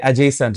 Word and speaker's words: adjacent: ইফ two adjacent sides of a triangle, two adjacent sides, এইটার pronunciation হচ্ছে adjacent, ডিটা এখানে silent থাকে।